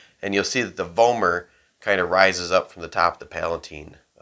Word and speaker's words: vomer: That's called the vomer bone. Right? Vomer, rhymes with gomer, looks like a plow, and that's kind of where it came from.